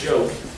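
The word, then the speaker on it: Giauque: his last name spell that's pronounced joke like French it's a joke so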